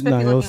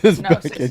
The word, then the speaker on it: Gnosis: You said Niosis. Website. Oh. Not Niosis? Niosis? Leave me alone, Jimmy. Yeah, call it whatever you want. Sorry, I pronounced it wrong. Gnosis, yeah. Gnosis. I stand corrected.